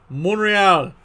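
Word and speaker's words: Montréal: wait wait wait wait wait montreal monreal again pronounce it correctly monreal well that one's french shouldn't sweat up a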